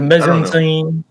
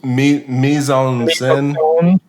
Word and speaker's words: mise en scène: I think I mispronounced a French word, and I'm not going to attempt it again. Oh, mise en scène.